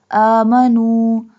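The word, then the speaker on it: آمَنُوا: Amanu. We stretch the alif because alif has fatha sign, standing fatha sign or vertical fatha sign.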